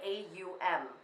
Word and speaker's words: Om: Oh so it's actually a um people spell it om but it's actually a um is how it's found so these are a